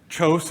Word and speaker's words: Kjos: introduced me as so toast is how we say it of course that's not how they say it in Norway and so I get